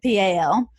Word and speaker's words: Powell: I'm from Powell, Tennessee, and we spell that P-A-L, or at least we pronounce it P-A-L.